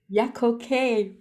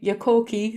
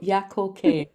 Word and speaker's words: Yakoke: Yakoke, that's how you say it. Yeah. So yeah, I was saying it in my Cork way, Yakoke, so Yakoke.